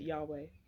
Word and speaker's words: Yahweh: I pronounce it Yahweh.